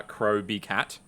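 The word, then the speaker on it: Crowbcat: video on the topic it's pronounced uh crowbee cat you ever [ __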